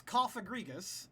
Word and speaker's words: Cofagrigus: So, this Cofagrigus, that is how you pronounce that, right?